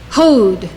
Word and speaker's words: Hod: Hod, majesty.